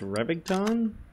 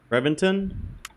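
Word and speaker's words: Reventón: here the Lamborghini and I believe it's pronounced revving tongue Reventon I think I'm not good with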